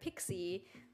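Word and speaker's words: PKCE: If you've ever heard the word Pixie, that is it's not spelled P-I-X-I-E as I learned very recently. It is spelled P-K-C-E.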